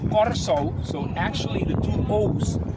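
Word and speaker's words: Curaçao: case uh Curacao has an art which we pronounce rolling or like and it's Corso so actually the two Oaks should have the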